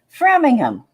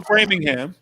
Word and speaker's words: Framingham: know who knows well I said the H you know how I am about hes so say it again yeah so Framingham okay Framingham you guys